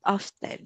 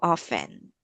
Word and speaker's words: often: It's often, not often. So it is silent. It is silent T. So often.